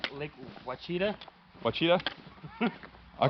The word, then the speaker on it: Ouachita: Or if you're not from Arkansas, it's called Lake Ouachita. Ouachita? I call it a Ouachita. I don't know the actual term. No, it's actually Ouachita, but most people don't pronounce it right.